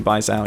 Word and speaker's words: Baizhao: Or have I been saying it wrong this whole time? No, it's actually Baizhao, yeah.